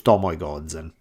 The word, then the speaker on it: Tomoe Gozen: of the entire gampe War her name was Tomo Goden and yes I use my pronounce correctly Tomo Goden was a woman the